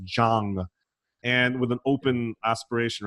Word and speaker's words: Jahng: I'm like, my name's not Yang. I was like, oh, I'm sorry. In Europe, it's J is pronounced Y. I'm like, do I look European to you? But Jahng, as long as you're